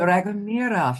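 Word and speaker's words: Dragomiroff: Is that how you pronounce it? Dragomirov. You did very well. Dragomirov.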